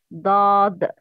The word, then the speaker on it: ض: Lengthening. The sound when pronouncing. It's ad, dad.